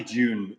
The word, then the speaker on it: Dune: I say June, but I've lived in America for long enough now that I'm Dune.